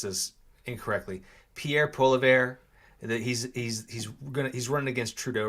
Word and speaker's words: Pierre Poilievre: It's like Pierre Poilievre. Yeah, it's not spelled like it sounds, but he's a French-Canadian guy.